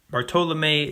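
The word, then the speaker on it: Bartolomé: the devastation of the Indies fray Bartolome are Bartolome de las casas that's how you pronounce that wrote they built a long gibbet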